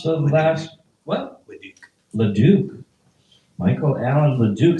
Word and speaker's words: Leduc: Michael Allen, how do you pronounce the last? What? Leduc.